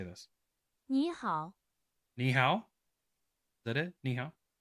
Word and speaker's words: 你好: Ni hao? Is that it? Ni hao? Ni hao.